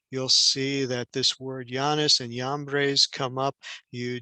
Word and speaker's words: Jannes: And when we look under the word here, we see, yes, the Yod, Nun, Yod, and Samek, and it pronounces the word Jannes, not the basketball player, okay?